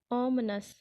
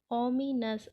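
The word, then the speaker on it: ominous: और हमारा third word है आज का ओमनस। ओमनस जिसे हम अगर हम लोग पढ़ेंगे तो इसे पढ़ेंगे ओमिनस, और अगर हम अंग्रेजी वर्ड में पढ़ें तो इसे प्रोनाउंस करते हैं ओमनस, जिसका हिंदी में अर्थ हो जाता है अशुभ।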